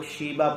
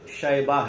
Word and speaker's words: شیبہ: جواب، شیبہ۔ بعض لوگ شیبہ پڑھتے، ہاں، تلفظ جو ہے اس کا شیبہ ہے۔ سوال نمبر 26، ہمارے